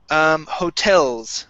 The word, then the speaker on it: hotels: Next we have hotels. Right here, this is hotels. The stress is at the end of the word.